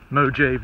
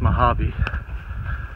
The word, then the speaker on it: Mojave: which is in the Mojave Desert. Now, I know it's Mojave, but if you're a Jerry Clower fan, he pronounced it Mojave.